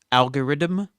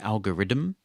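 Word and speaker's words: algoriddim: called algorithm and they're all over the apple ecosystem there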